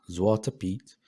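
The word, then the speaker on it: Zwarte Piet: time so zwarte p zwarte p pronounced zwarte pete dutch for black p luxembourgish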